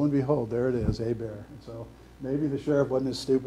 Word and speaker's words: Hébert: His name was Norman Hébert, which is pronounced in the Cajun fashion, a bear.